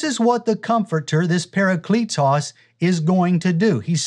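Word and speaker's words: παράκλητος: Some people pronounce it parakletos, but I say parakletos.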